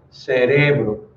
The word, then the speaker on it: cerebro: Um heterotônico é aquela palavra que vai ter uma sílaba tônica diferente. Então, por exemplo, democracia em português, em espanhol vai se ler democracia. Cérebro em português, em espanhol vai ser cerebro. Magia em português vira magia e assim por diante.